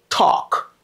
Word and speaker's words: talk: me a favor favor because the letter L is silent let don't say talk say talk talk okay I want to